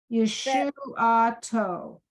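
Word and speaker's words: ישועתו: Yosh, No. No. You were Yush, no. do it slowly. Yeshuato.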